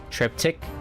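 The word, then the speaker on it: triptych: now one sec there trip trip tuck trip tick the okay so I pronounce it right triptic triptic sounds the same as it s as it looks luckily this is the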